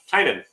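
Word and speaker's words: Tynion: interview with him um and that's how he pronounces it so tynan who just keeps making characters throw them against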